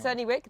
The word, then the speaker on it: Cerney Wick: And what we've got here is a special finds found here at Cerney Wick. I'm pronouncing that right? Yes, Cerney Wick, that's correct, yes.